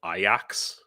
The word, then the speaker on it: Ajax: teach English for uh called Ajax or they pronounce it aak um yeah this these